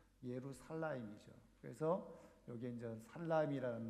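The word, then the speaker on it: ירושלים: 이런 뜻이고요 여게 전 그 정확하게 발음하면 우리는 예루살렘 이렇게 하지만 살라임 있니다 예루 살라임이 히브리어 대로 읽으면 예루 살라임 이죠 그래서 여기게 이제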